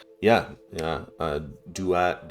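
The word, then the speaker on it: Duat: This is Hound of Dwat. Yeah. Yeah. Uh Dat Dwat. Um very very close, very similar.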